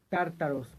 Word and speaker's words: Tártaros: a la mitología griega se pronuncia tártaros con un acento en la primera tártaros bueno este lugar